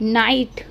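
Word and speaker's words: knight: subscribe like this A नाइट नाइट क्यों पड़ते हैं क्योंकि लीजिए हमारा साइलेंट होता है तो नाइट हो गया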